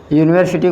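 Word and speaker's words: university: यूनिवर्सिटी पहले अक्षर या है, उच्चारण का पहला अक्षर क्या होगा? यूनिवर्सिटी या, इसलिए जब पहला अक्षर या है इसलिए एक की अंग्रेजी लिखी जाएगी ए। एक की अंग्रेजी क्या लिखी जाएगी? ए। अगर आप यू को देखकर एन लगा देंगे तो आपका गलत हो जाएगा। आपको उच्चारण का पहला अक्षर देखना है।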